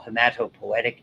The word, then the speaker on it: hematopoietic: is what we call hematopoietic tissue. You'll see that name. That's how it's pronounced.